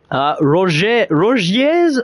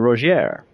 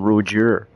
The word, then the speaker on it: Rogier: The same way it's pronounced in English, I guess. I want to meet a YouTuber that calls him Roger.